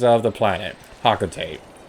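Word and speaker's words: Hocotate: Officially it's Hakotate? That's how they pronounce it in Super Smash Bros. For Palutena's guidance? I don't like that pronunciation. I think it's stupid. So, I'm going to be pronouncing it however I like to pronounce things. That's how I've always pronounced it. Hakotate Freight sounds a lot more catchy than Hakotate Freight. I don't like the pronunciation Hakatare.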